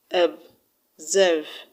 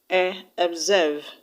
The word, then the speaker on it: observe: The word observe has two syllables, observe. OB is one syllable and serve, S-E-R-V-E, is another syllable. So the unstressed syllable in this word is OB. So that's why it's being pronounced as observe, observe.